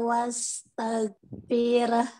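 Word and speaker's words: وَاسْتَغْفِر: Hati-hati wastaghfir. Jangan firah ya. Wastaghfir. Jadi fir gitu ya. Jangan fir. Dia bukan imalah. Enggak boleh bacanya fir. Reh, ada reh, bacaan reh enggak boleh.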